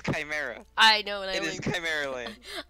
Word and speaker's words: Chimera: i'm i've been i've been pronouncing this wrong this whole time i'm going to call it shimara land throughout this entire stream i'm telling you it is chimera i know i mean